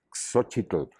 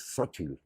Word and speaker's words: Xóchitl: y no no no no se dice por supuesto Tenochtitlán que es muy feo se dice Tenochtitlan suavísimo fácil de decir pasó eso Y entonces